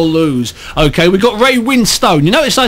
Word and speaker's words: Winstone: Okay, we got Ray Winstone. You notice I said Winstone. That's because that's how you pronounce Ray Winstone.